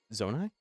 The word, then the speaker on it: Zonai: there we go how do you say zonai there is only one true answer zonai does someone does anyone say that differently